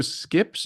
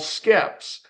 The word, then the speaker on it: SKEPS: So Skips, is that what you called it? It's called Skeps.